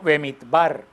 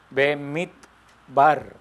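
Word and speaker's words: במדבר: Este libro, el libro de Números, se pronuncia en hebreo Bemidbar. Bemidbar.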